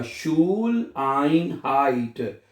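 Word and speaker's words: Schuleinheit: तो जब ई आई इकट्ठा आएगा तो उसको क्या पढ़ना है आपने? आई करके प्रोनाउंस करना है, ठीक है। जब ई आई इकट्ठा आएगा तो उसको आपने आई करके पढ़ना है, आई।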